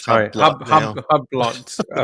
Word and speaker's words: Hublot: Is Hublot. it? Wow. Nah, it's not pronounced like He's that. just It's a silent H.